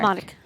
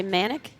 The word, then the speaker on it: Monic: Monic. A lot of people All right. say manic. No. It's not manic. Monic. Got it. I was told by Rod Workman. Okay. Rhymes with Andy Roddick.